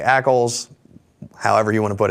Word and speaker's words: ACLs: Ackoles or A-C-Ls? You say A-C-Ls. I say A-C-Ls. Yeah, that's I've always done. Which means that's probably the right way to say it.